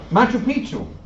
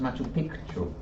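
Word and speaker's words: Machu Picchu: in a further presentation matchu Pichu um some of you may have heard of matchu Pichu actually it should be pronounced matchu piku Mau piku is was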